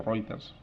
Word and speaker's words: Reuters: agencias especializadas del tipo Reuters, que conoceréis, o Reuters se pronuncia.